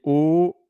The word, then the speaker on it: eau: O, O. And then there is O, H-A-U-T, and in French we don't pronounce the H.